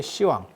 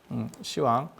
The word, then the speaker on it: 시왕: 그래서 그렇게 발음이 전화되는 경우에도 옛날 발음을 쓰는 남아있는 경우들이 있고, 시왕이라고 하는 거는 우리 발음 때문에 나타나는 거예요.